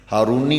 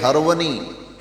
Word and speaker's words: ہرونی: ہارونی کہا جاتا ہے، ہارونی مشہور ہو گیا، خواجہ عثمان ہارونی، آپ جس گاؤں کے رہنے والے تھے اس گاؤں کا نام ہرون تھا، اس لیے خواجہ عثمان ہرونی یہ صحیح تلفظ ہے۔ یہ پڑھتے پڑھاتے لوگ